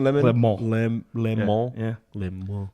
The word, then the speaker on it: Le Mans: Le Mans.